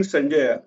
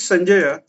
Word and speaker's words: Sanjaya: So Dhritarashtra is asking Sanjaya. Now, who is Sanjaya or Sanjay rather? We will not use uh, generally used English uh, distorted pronunciations of these names.